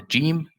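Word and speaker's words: جيم: common with another languages, but in Arabic Fusha, we never say Ga. We never say like English good or great. We don't say Ga. We always say Ja. Jamil. It's always be, we call it mu'attash. So Jim will never be Ga. It's always Ja. Ja.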